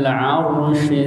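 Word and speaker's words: عرش: Ya, bedakan shin dengan sin. Shis tawa. Ar-Rahmanu 'alal 'arsy istawa. Makanya tenang bacanya. Sekali lagi, 2 3. Ar-Rahmanu 'alal 'arsy istawa. Shi, coba shi. Gitu. Shi yang keduanya kecil kan? Arsyistawa. Ya, sekali lagi coba. Oke, nggak apa-apa. Itu shinnya agak kurang jelas.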